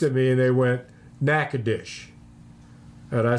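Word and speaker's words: Natchitoches: wrong yes it's called nackadish that's the way it's pronounced nackadish and so I went in all confident yes said something to somebody about nacadas and they looked at me and they went nacadish and I said what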